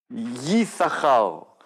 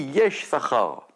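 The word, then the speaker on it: יששכר: on regarde c'est que il a deux chines mais on en prononce qu'un d'accord normalement y y Sahar mais mais c'est écrit yes Sahar parce que le deuxième Chine il est pas ponctué ce qui veut dire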